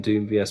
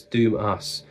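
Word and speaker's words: Doom:VS: is some Swedish Doom this is Doom us but it's spelled Doom vs and I looked it up cuz for years I used to call them Doom vs but it's Doom us but he thought the V looked cool and wanted it as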